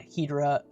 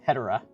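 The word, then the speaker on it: Hedorah: It's not pronounced Hedera, it's Hedera. I've looked it up. It is Hedera. I have to completely change how I've been pronouncing that name.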